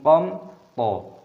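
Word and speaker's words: قمطريرا: Qamthariira. Qamthariira, sebuah pertemuan mim sukun dengan tho, aturannya adalah membacanya sebagai izhar syafawi, dibaca dengan jelas, qamthariira.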